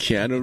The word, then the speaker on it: Keanu: It's Keanu Reeves. Yeah, I always mispronounce that.